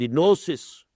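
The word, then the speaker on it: gnosis: have the cognition the नोसिस you spell it with ji ग्लोसिस बट इट इज़ स्प इट is pronounce S ग्लोसिस the knowledge the मारफा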